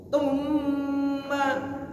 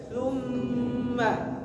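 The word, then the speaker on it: ثُمَّ: Karena sebagian ketika kita baca sa-nya lagi urung baca ta. Tumma. Gimana baca bu? Padahal mau baca summa.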